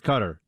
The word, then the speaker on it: Qatar: gonna head out to Qatar and I believe that is the official pronunciation that fox has decided on Buck I mean uh for the Arabic speakers out there it's cutter but but we're Americans